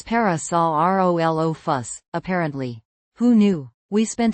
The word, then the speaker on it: Parasaurolophus: It's parasol o fuss.